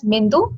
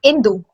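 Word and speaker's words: इन्दु: So we'll not pronounce it as Mindu, it will be Indu, because Ma will go with the Sanskritam.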